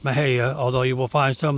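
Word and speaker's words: Mexia: The city of Maha, yes, that's pronounced Maha, although you will find some of the longtime locals pronounce it Mahair.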